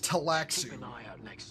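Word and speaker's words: Tleilaxu: Collins has been acting real strange since finding that corpse with the Texu satchel. Oh, it's pronounced Taxio.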